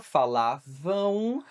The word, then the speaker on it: falavam: Ó, importante a pronúncia falavam ão. Mesma pronúncia de não.